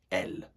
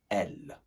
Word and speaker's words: elles: group, and that is elle. Elle. Très bien. Again, pronouncing that S when the following verb begins with a vowel.